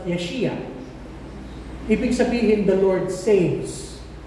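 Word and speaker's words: Yeshayahu: sabihin ng pangalan niya in traditional Hebrew ang pangalan niya would be pronounced yeshia ibig sabihin the Lord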